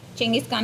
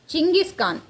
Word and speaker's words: சிங்கிஸ்கான்: அவருக்கு அந்த பேரே வருது செங்கிஸ்கான் என்கிற பேரே வருது அதுவரைக்கும் அவர் டெமோஜின்னு தான் அந்த கதையில சொல்லிட்டு இருப்பாங்க அது பார்த்தீங்கன்னா அவர் பேருக்கே ஒரு அர்த்தம் இருக்கு சிங்கிஸ்கான் என்பது சரி செங்கிஸ்கான் என்பது போர்ஷிய மொழி உச்சரிப்பின்படி உருவானது சின் என்பதற்கு பல அர்த்தங்கள்